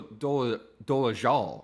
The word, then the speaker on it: Dolezal: It's actually Rachel Dolezal, right? Like that's how it's pronounced.